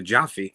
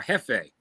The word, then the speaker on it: Jefe: uh the the Jaffe is it Jaffe or Jefe how do they say it Shane it's heavy it's spelled j-e-f-e means boss in Spanish yeah but it's spelled Jefe or jafe that's why I kept calling it saying it the wrong way I need to learn